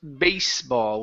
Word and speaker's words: baseball: go much better okay this word here is pronounced baseball with an unvoiced s base baseball will